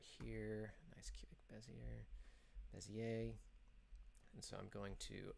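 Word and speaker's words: Bézier: Is it Bezier? Is that how you pronounce it? I think it's Bezier because Bezier. He was French.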